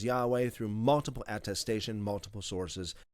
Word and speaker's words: Yahweh: We've established that the Father's name was historically pronounced as Yahweh through multiple attestation, multiple sources, ancient sources.